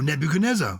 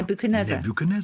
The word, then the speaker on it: Nebuchadnezzar: one either nebuchadnezzar oh nebuchadnezzar you can pronounce it okay nebuchadnezzar nebuchadnezzar you don't pronounce the d in it then nebuchadnezzar i need to